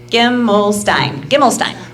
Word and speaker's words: Gimelshteyn: It's 3 syllables, Gimelshteyn.